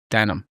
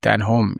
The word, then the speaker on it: Den Holm: Um but no came for came for the village and it's pronounced denim. We pronounce it denim and any anybody that comes into the village that's new to the village will call it den home and that's that